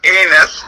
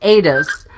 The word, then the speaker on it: Addis: Whose real name was Addis, but you were convinced it was Anus. Well, it's pronounced Adis.